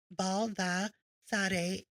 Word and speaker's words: Baldassare: Pronounced as Baldassare, which is Italian origin.